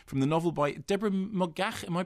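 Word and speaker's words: Moggach: and Captain Corelli, from the novel by Deborah Mogach. Am I pronouncing that correctly? Mogach, yes, Mogach, is it fine?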